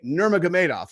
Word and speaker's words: Nurmagomedov: really proud that I've learned how to say nurmagamedov and they're all can you say khabib I'm